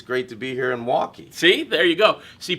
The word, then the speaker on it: Milwaukee: No, it's just like it's great to be here in Milwaukee. See, there you go. See, people from Milwaukee don't pronounce the L. It's Really? Milwaukee, not Milwaukee.